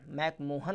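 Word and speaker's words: McMahon: और भारत और चाइना के बीच में जो बॉर्डर लाइन है उसका नाम है मैकमाहोन लाइन। मैकमोहन लाइन नहीं बोलते इसको, मैकमाहोन लाइन। स्पेलिंग देखिए MAHON।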